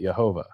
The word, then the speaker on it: Jehovah: But in German to this day, if you were to write J E H O V A H, Jehovah, they would pronounce it Yhovah.